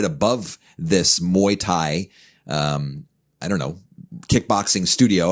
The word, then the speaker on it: Muay Thai: And yet now, let me say if I pronounce this correctly, Muay Thai. Muay Thai, yes.